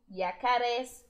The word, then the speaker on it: yacarés: As palavras, né, que faltavam as sílabas são as seguintes: víboras, ranas, sapos, flamencos, yacarés, com acento no E, tá?